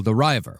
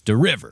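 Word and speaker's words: De River: Joseph Paul Derver, which I pron mispronounced in the last episode as Diver.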